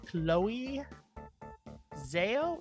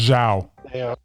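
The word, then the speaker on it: Zhao: Directed by Chloe Zo, is that the right pronounce? Xiao. Xiao. Oh, thank you. Yes, that makes more sense now that I know that that's Xiao.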